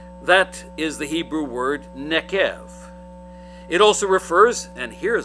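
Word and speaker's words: neqev: This is the Hebrew word nekev. Nekev, if you're trying to write it down and spell it out, that's N as in Nancy, E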